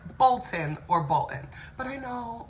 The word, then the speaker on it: Bolton: all the time um I don't like imploded consonants so I don't want to hear Mountain or fountain but just uh whether this singer one time remember Michael Bolton I would probably say Michael bull and it's just horrible but to hear Michael Bolton it just feels like you almost gagged on the word and and then something